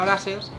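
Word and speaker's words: Brazzers: Se pronuncia Brasers, es que la gente latinoamericana dice Brasers, y me dicen que no sé decirlo yo. Ah, vale. Que no sé pronunciarlo, pero es que todos los ingleses y americanos dicen Brasers.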